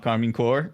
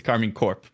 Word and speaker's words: Karmine Corp: It's not Karmine Corp, it's Karmine Corp.